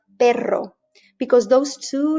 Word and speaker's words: perro: distinguishable by one letter if you have one r you're saying pero but if you've got two you are saying a different word perro because those two letters